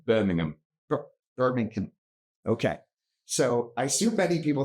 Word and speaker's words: Birmingham: It's hard for me to pronounce H-A-M on anything other than ham when I think you said him. Birmingham.